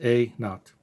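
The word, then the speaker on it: A₀: This is the initial decay, and it's pronounced A naught. A naught is the Old English word for 0. We have A sub 0, and it's pronounced A naught.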